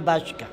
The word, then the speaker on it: Baśka: Baśka, twardo wymawiamy Baśka.